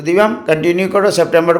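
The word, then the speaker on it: septembre: सितंबर को क्या पढ़ते हैं? September, सितंबर. ई का ज़्यादा उच्चारण नहीं होता है, BR तक ही उच्चारण रहता है.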